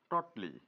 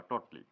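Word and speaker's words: totally: সেক্ষেত্রে আমরা একদম পুরোটাই এর জন্য ব্যবহার করব টটলি, টোটালি বা টটলি, সঠিক উচ্চারণ করবো টটলি।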